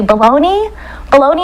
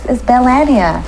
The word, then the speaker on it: Belania: They'd say bologna and cheese daily. Wow. Daily news, bologna and cheese sandwich. And I was like, dang. Wow. It's Belania.